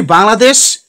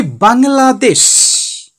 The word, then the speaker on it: Bangladesh: Okay, just I am showing you our country Bangladesh. Bangladesh. Bangladesh. Bangladesh. How many syllables? Near India. Beside India. Not India. Beside India we live in. We can divide the word into three parts.